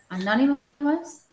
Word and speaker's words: anonymous: See, anonymous. I'm sorry. Okay. I don't get it. No, Karina, anonymous. Anonymous. Yes. No. Like famous.